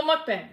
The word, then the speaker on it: mukbang: April Consalo, Cannibal Mukbang. That's how you say it. Okay. Cannibal Mukbang.